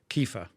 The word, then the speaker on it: kefir: yogurt, a 50-50 with kefir, which is fermented milk, kefir, as it's pronounced in the US, and which has even more, so there's like 2 probiotics in that.